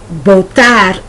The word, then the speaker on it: votar: In Spanish, the verb votar is pronounced as if it began with a B, even though it's written with a V.